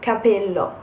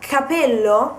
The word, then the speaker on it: capello: the consonant then another example is Capello and Capello Capello means hat while Capello with one p is a hair because in